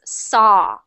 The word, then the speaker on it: saw: of so or so I know there's a w at the end but we don't pronounce the W so it just becomes saw saw Amir I don't